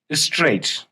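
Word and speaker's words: straight: स्ट्रेट म होता सीधा इसमें जो है जी एच का जो साउंड है वो साइलेंट है इट इज स्ट्रेट स्ट्रेट तो जी एच कहां है जीएच है ही नहीं स्ट्रेट जीए का साउंड इज साइलेंट देन हम कहते हैं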